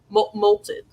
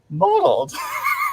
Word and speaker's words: mottled: a lot good molted oh that's how you say that word is that why i never liked that word yeah because i mo oh i'm saying it wrong yeah modeled oh yeah i always thought it was molted or something rachel like